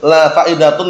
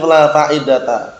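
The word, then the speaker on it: لا فائدة: Nah, jadi lanya la nafiyah jinsinya, bacanya bukan la faidatun, la faidata.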